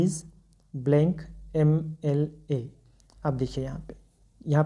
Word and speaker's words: MLA: भले यहाँ पे एम अपने आप में कॉन्सोनेंट है लेकिन उच्चारण कैसे हो रहा है, ए से हो रहा है, तो आप क्या लिखेंगे, ही इज़ एन MLA।